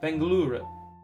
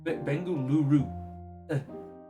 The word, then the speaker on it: Bengaluru: Ga Ga Tempa International Airport Bengal uh uh Bengalura Bengalura Bengaluru sorry I apologize for that butchered it.